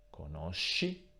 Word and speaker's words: conosci: Come sempre, nella prima persona singolare e nella terza persona plurale troveremo un suono duro, sk. Nelle altre persone troveremo il suono debole, sh. Quindi conosco, conosci, conosce, conosciamo, conoscete, conoscono.